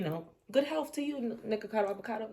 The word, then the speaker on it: Nikocado Avocado: good health to you nicacado avocado oh I said it right that time and so I feel